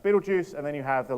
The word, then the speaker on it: Betelgeuse: All right, and then you have, I believe it's pronounced Betelgeuse, and then you have the largest stars out here, which are about 300 times as massive as our sun.